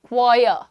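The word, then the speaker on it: choir: Pronunciation क्या है? क्वायर। क्वायर क्वायर करना बंद करो। इट इज़ क्वायर।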